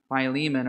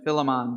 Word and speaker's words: Philemon: main character of the letter to Philemon or Philemon depending on how you like to pronounce it so Saint Paul himself